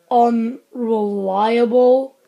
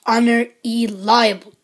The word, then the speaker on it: Unr. E. Liable: a doctor hollow dr on reliable it's pronounced on there Eli dummy geez learn how to read oh ok I was